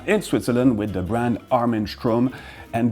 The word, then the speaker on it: Armin Strom: And the entire complexity of this brand's name pronunciation resides in this STR, which needs to slightly sound like sh, and also roll a little bit in your mouth.